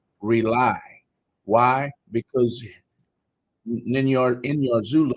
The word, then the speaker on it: R.A.U.L.I: It's pronounced rely.